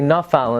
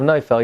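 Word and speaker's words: נופל: If you say Nafal instead of Neufel, you're out.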